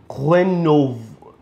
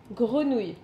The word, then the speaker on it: grenouille: Grenov. Grenouille. Grenouille. Did I say it right? Almost. Grenouille. Grenouille.